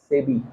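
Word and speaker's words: SEBI: সেবি। সেবি, সেবি ইংরেজিতে কি বলে বল? মানে সেবিটাকে ইংরেজিতে বল না, কি হয় বানানটা?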